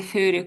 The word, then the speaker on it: furry: Has a has a furry coat.